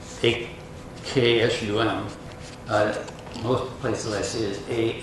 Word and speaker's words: Aksum: It's A-K-S-U-M. Most places I see it A-X-U-M. It's kind of pronounced the same way though, Aksum.